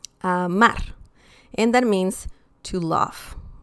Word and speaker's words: amar: Now, the next example, amar. Amar. Okay? It's not amar, it's amar. Okay? So we can feel the stress here. That's the stressed syllable. Amar.